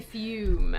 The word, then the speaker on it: Fume: When we're slaves to a bad habit, which is why today's video is sponsored by Fume. And rhymes with broom.